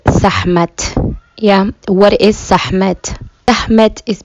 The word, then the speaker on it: Sekhmet: So, before I continue on with the story of Sekhmet, I'm actually using the correct pronunciation of her name, which in Somali is Sekhmet.